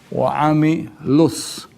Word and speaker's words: وَعَمِلُوا: So we will not lengthen it and we will not say wa'amilu solihat, wa'amilu solihat. No. Wa'amilus, wa'amilus. So the waw is silent.